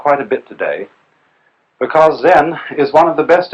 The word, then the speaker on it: Zen: Zen, of course, is a Japanese word, and it's spelled Z-E-N. And that is the Japanese way of pronouncing the Chinese word Chan.